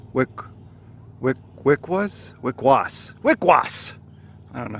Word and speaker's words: Wickwas: Wickwas, like W-I-C, Wick, and then was, but not like Kilroy was here, W-U-Z. Was, like he was going to swim in the lake. Was, W-A-S, Wickwas. Wickwas? Wickwas!